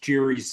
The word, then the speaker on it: Gerry: right um so Elbridge Jerry was a Gary actually is I think it's probably pronounced it was a